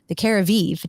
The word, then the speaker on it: Keravive: to take advantage of the Keravive treatment, right? That's how you pronounce it, right?